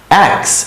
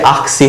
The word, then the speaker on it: axe: অ্যাক্স, অ্যাক্স মানে হচ্ছে কুঠার। এ এক্স ই, অ্যাক্স। এটা আমার মনে হতে পারে যে আকসি হবে উচ্চারণ, রাইট?